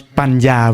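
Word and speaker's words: paññā: But with the ends, actually it's pronounced in between Ya and ends, which is will pronounce Panya. When two ends with the curl together, we pronounce Panya.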